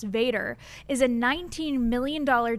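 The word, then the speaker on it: VATRE: approved tax rate election pronounced Vader just like Darth Vader it is a $19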